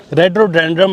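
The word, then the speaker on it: Rhododendron: तो जो ये फ्लावर है, रेडोडेंड्रम एक्चुअली इसको प्रोनाउंस किया जाता है, बाकी बोरान्स का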